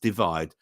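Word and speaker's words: ÷: the UK album with his third studio album pronounced divide all the the tracks on the album reached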